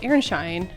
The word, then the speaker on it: Aronszajn: But then I found out that it's called Airshine.